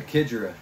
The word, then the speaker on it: Xigera: a kidra k just just put a k where the x is and that's kind of